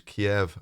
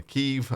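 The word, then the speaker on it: Kyiv: Two, so for me, it was always Kiev and Kharkov, which the guy who actually lives in Ukraine has now told me actually those are the Russian pronunciations. The Ukrainian ones are Kiev and Kharkiv.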